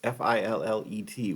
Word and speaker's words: fillet: Fillets, F-I-L-L-E-T, which spells a lot like fillets, like fillet of fish or filet mignon, but it's pronounced fillet.